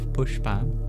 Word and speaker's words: puṣpa: You'll see there's a dot under the s too which indicates that's a little different. You curl your tongue back to produce that sound.